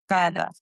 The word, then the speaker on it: cada: Say it like the TH sound. Cada There it is.